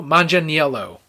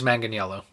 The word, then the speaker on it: Manganiello: I can't pronounce that last name. Joe Manganiello. What? Could be Manganiello. What? I think it's Manganiello.